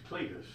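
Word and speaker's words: Clydeth: And his name is Cletus. and it's spelled C-L-Y-D-E-T-H, the Welsh spelling.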